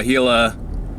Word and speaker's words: Gila: we just did uh gila cliff dwellings i was calling aguila before angler pronunciation i guess um so it was